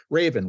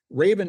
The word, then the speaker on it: Rayven: Raven, which is spelled R A Y Ven, Raven is using crowdfunding to allow people to invest in modernizing apartment buildings for as little as $250.